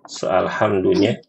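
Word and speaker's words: الحمد لله: Al-ha, pertama ha sama ain. Ya, itu aja fokusnya. Suaranya itu harus lebih keluar dan terbuka suaranya. Ha dan a gitu ya Bu ya.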